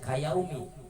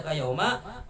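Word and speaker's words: كَيَوْمَ: Kenapa di sini dibaca kayauma? Yaitu mabni ala patah, diidhofatkan kepada fiil, disandarkan kepada fiil, maka dibacanya tidak menjadi kayaumi, jadi dibacanya kayauma waladathu ummuhu.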